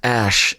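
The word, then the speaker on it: Æ: letter X and then AE is pronounced ash and 8:12 is my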